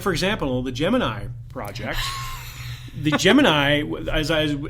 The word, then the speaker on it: Gemini: topic was that I've been pronouncing Gemini wrong all this time as have I what was it in the movie jiminy jomini jhemini yeah and repeatedly and yeah regardless of where the person was from in the country they all pronounced it that way I don't believe I've